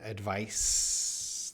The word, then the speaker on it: advice: confusing because up here it's a c with an s sound advice that s but down